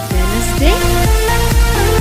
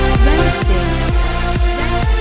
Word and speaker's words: Wednesday: Wednesday? Is it correct? No. It should be pronounced as Wednesday.